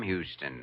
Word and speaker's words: Houston: But Houston's a famous Texas name, Sam Houston. Sure, but it's also a famous Lower East Side name, the street where I was born. Except here in New York, you pronounce it Houston.